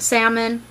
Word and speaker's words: salmon: I pronounce it salmon. Most people pronounce it salmon. Whatever. It has an L in it. I pronounce it. I'm odd.